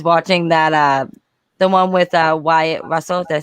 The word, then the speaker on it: Wyatt Russell: and I was watching that the one with Wyatt Russell. Did I say his name right this time? Mm-hmm. Yeah, Wyatt Russell.